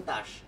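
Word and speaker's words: TASS: আমার ঠিক জানা নাই কারণ রাশিয়ান ভাষায় লেখা তো উচ্চারণটা হচ্ছে তাস আচ্ছা নর্থ কোরিয়া হচ্ছে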